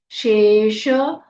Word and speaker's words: शेष: कटा श है निरस्ता शेष शेष श पूरा बोलना है शेष विघ्नया व में छोटी